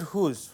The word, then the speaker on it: who's: object so look at whose who is the posessive form car like whose car is that look at next one who apostrophe s the pronunciation is absolutely same who's so sometimes we may